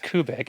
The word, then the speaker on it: Kubic: pronouncing my last name I would say it's like coustic but it's cubic but it's kubic and people didn't know